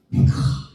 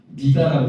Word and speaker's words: 미가: 근데이 남유다에 엄청난 분이 한 분 계셨으니 바로 그분의 이름은 이제 히브리어로는 좀 발음이 있겠데 미카 예 미가입니다. 미가 우리나라에 성경을 번역하면서 미가라고 부드럽게 섰지만이 그 나라 사람들은 미카 이렇게 부른단 말이에요.